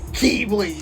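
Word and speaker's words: χ-blade: it's just weird because it says X and they go Keeble yeah it's using the Greek pronunciation I know it's just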